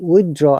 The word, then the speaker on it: withdrawal: you can see um god r is silent taylor are silent but in withdrawal r is pronounced because there is a vowel sound after r so i would